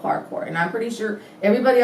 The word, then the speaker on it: parkour: it the right way, parkour. I know that didn't sound like the way it's spelled, but it's called parkour.